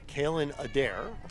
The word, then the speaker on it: Kaylin Adair: So Kaylin Adair, corrected, is the pronunciation.